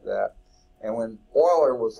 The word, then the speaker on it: Euler: Many considered Leonard Euler, it looks like it would be Euler, but they pronounce it Euler, a Swiss mathematician, to be one of the most prolific and productive mathematicians in history.